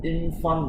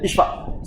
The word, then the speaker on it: Ishfaq: Let me hear from, is it Infan, is it? If I pronounce it? How do you pronounce it? Infan. Ishfaq. Sorry. Ishfaq.